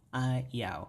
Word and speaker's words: ayaw: Ayaw, right? Ayaw, two syllables.